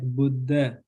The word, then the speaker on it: Buddha: So we don't pronounce this DH separately. We like pronounce like Buddha, like Buddha.